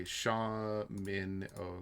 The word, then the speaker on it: Shamino: Okay, Shamin. Oh, okay, so Shamino. Shamino. Instead of Shami.